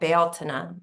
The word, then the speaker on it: Bealtaine: It's like the fullness of spring, and that's the gate of union and fertility at Bealtaine, which is how it's correctly pronounced.